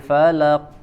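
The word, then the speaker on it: فلق: Al-Falaq ayat pertama ya, biasanya qafnya dibaca seperti atau seakan-akan ada tasydid ya. Dibacanya qul a'udzu birabbil falaq ya. Jadi tidak ada jeda, tanpa ditahan dulu di makhrajnya tapi langsung dipantulkan ya, karena di sini qafnya tidak ada tasydid ya.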